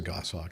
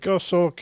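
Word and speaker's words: goshawk: What is a gosh hawk? Is that some kind of a bird? Goss hawk.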